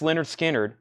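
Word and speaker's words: Lynyrd Skynyrd: Vaden police 44.99 74 Tara Holt Leonard Skynyrd pronounced Leonard Skynyrd is 29.99 this is a non-gate fold MCA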